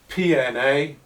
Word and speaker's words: PNA: it an advanced comparative because PNA rhymes with DNA, and that helps you to remember the system and put PNA into your writing DNA.